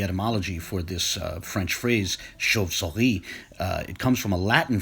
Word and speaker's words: chauve-souris: For starters, the CH in French is pronounced sh, but there's a lot